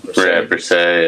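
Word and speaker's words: Bresee: It's going to be Nolan Smith and it's going to be Brisset. That's how you say it, right? From Clemson. Brisset, yeah.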